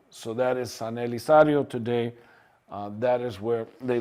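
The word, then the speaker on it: Elizario: Now, eventually, it will be pronounced Elisario. So that is San Elisario today.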